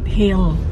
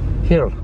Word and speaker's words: Gil: thank you very much you have to pronounce it hill hill even though it's spelled g-i-l yes when we went